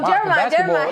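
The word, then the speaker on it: Jeremih: Oh, Jerimih.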